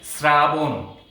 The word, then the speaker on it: শ্রাবণ: তাহলে এটির শুদ্ধ উচ্চারণ হলো শ্রাবণ, একটি ওকারান্ত হবে। তাহলে এটির উচ্চারণটি আমি লিখছি, এটি কিন্তু উচ্চারণ, ব হবে না, বয়ে ওকারান্ত হবে, শ্রাবণ। উচ্চারণটি হবে এইরকম, শ্রাবণ।